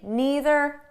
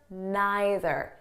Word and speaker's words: neither: Now, before we go any further, I just want you to know that the pronunciation is flexible. So you can say neither, neither, either, either, okay? There's no difference. I might even change them throughout the video.